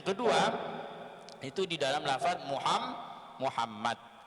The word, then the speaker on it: Muhammad: dalam lafadz Muhammad Muhammad harus betul-betul kita mentasydidkan Muhammad Muhammad Jalan sate Muhammad Apalagi kita mu hanya itu dirubah menjadi hahaha Hai yang artinya Muhammad itu orang yang sangat terpuji kemudian karena kita itu membacanya secara enteng secara ringan menjadi Muhammad yaitu hak berubah menjadi hak itu artinya menghancur menghancurkan ataupun orang yang dihancurkan karena dari kata Hamada